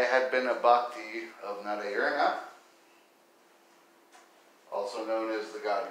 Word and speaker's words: Narayana: for years and years I pronounced Narayana, Narayana like Mariana, or something like that. And it's just funny, I worshipped Narayana for many, many years, with a very common white man mispronunciation of his name.